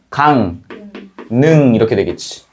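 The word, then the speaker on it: 강릉: 앞말의 받침이 뭐예요? 이응. 이응이죠. 뒷말의 첫소리 리을. 그럼 무를 무는이니까 발음되면 어떻게 되겠어? 강 능지. 이응이고요. 리을은 뭐가 되고? 니은이 되면서 강능 이렇게 된다는 거지.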